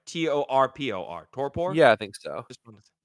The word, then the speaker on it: torpor: they go into what's known as a toor torpor I hope I'm pronouncing that right t o r p o r torpor yeah I think so yeah so it's